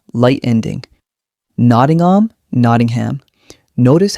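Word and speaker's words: Nottingham: Noddingham, Noddingham. Notice how the ham becomes soft and quick. Say them with me slowly first. Bournemouth. Noddingham.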